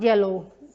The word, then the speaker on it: yellow: common spelling another one should be for example yellow y the sound y the sound y it's pronounced not like eddie like in spanish it